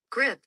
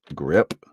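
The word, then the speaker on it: grippe: I do always always look up right here pronunciation grip grip what is grip oldfashioned word for the flu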